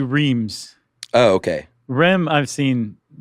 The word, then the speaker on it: Reims: But we even have a thing in here that says if you say Rheims, then you're an American city slicker. If you say Reims.